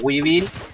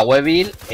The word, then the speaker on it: Weevil: de oro en la la wiil o la weil Según como lo quieras pronunciar en inglés o en español y nada os traigo